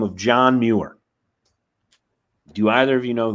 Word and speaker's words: Muir: This led me to be quite fascinated with a man by the name of John Muir.